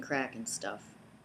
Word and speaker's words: Crackinstuff: And you might notice that the CK, the K is silent, like in Crackinstuff.